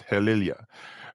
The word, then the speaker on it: Helilya: I think I pronounced that weird at the start of the video. So it's Helilya.